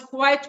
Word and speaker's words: quit: So there is a pronunciation difference between the first and the second one. The second one is quit, whereas the first and the third one, they are pronounced quite same.